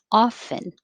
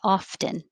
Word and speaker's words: often: um i would say the majority of mainstream american english speakers don't pronounce the t often so you're making ah fin often and if you want